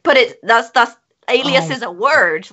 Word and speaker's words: Alias: terms of waste anyway so alias and it's pronounced alias generally some people think it's Elias I thought it was aleus until literally about